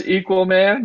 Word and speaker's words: Qualman: about you online yeah it's just equal man so it's spelled exactly how it sounds it's e q u a l m a n I'm spelling it out because literally after conferences people ask me how to spell it and I'm like oh man we gotta get back to some spelling here in the United States but it's it's equal man across the board thank you it's been